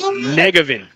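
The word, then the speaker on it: Njegovan: And Elizabeth with thanks here on the pronouncer as just a couple of local guys here, but it's Negevin. There Connor we go. Negevin.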